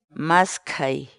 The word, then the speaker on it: maskhay: de videos en la que te enseñamos a pronunciar algunas palabras en quechua. Así que nuestra palabra del día por hoy es Maskai, maskai, maskai, la palabra quechua.